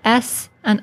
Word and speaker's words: sA: Well, it's usually used for the sounds of S and Aleph. So in modern times, we pronounce this as Sa.